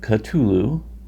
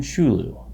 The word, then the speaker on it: Cthulhu: Variations include Cthulhu, Cthulhu, and even Shulu.